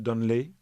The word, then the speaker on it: Donnelly: Vous publiez 2 Céline à Beethoven, avec une préface je signale, de Michael Donnelly, oui, prononce à l'anglaise, je pense, oui.